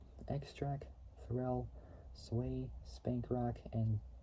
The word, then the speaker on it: Xtra: by performed by Xtra which is sped without the the X but it's sped e k s t r a k and then FAL which was Fel Williams say x extra Fel sway Spank Rock